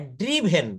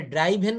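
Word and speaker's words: driven: ড্রোভ মানে চালিয়েছিল আর ড্রিভেন এটা ড্রাইভেন বলা যাবে না ড্রিভেন বলতে হবে অর্থাৎ গাড়ি চালিয়েছে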